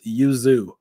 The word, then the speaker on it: Yuzu: 64-bit emulation station or Yuzu Yuzu okay perfect it's pronounced Yuzu so those are going